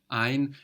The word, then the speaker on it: ein: So ein is spelled E-I-N. We know this E-I gives us the I sound.